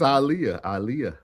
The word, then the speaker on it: Aaliyah: Time said they choose to say this woman's name wrong every time. Aaliyah. They say it's Aaliyah.